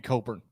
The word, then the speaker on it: Cockburn: their name is Kofi Coburn. Okay. Many would argue that's the one person who should not get to decide. But yes, his name's Cockburn. His name is Cockburn.